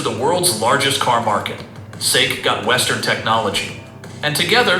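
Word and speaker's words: SAIC: GM has a successful partnership with Chinese company SIC, pronounced Sik, and what appears to be a mutually beneficial relationship. GM got access to the world's largest car market. Seikk got Western technology and together they've sold millions of cars in China.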